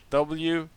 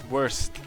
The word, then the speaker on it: Wurst: But okay, so the German word for sausage is Wurst. W-U-R-S-T. Wurst. Wurst, alright? And you can call it a Wurst, or and then it will be like a worst if you say it wrong.